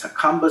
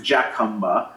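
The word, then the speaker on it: Jacumba: place where uh we're seeing the The Crossings hakuma Springs it's not pronounced jauma hakuma Springs Haka Hot Springs right here at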